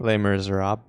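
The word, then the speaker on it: Les Misérables: Les Miserables.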